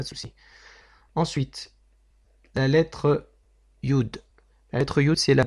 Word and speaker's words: Yud: Iota, Yud, Yut, Iota. Voilà, donc il faudra s'en souvenir, c'est pas très compliqué. La prononciation, c'est comme un I.